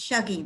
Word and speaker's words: Shuggie: So Shuggie, yeah, we were just talking about whether it's Shuggie or Shuggie, and she tells me it's Shuggie because that's what the audiobook uses, that pronunciation.